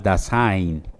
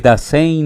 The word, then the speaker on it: Dasein: Pero hay un tema que en él es muy agudo y es con respecto al Dasein. El Dasein o el Dasein, como algunos lo pronuncian, es un término alemán que lo utilizó Martin Heidegger, y la palabra Dasein significa el ser ahí.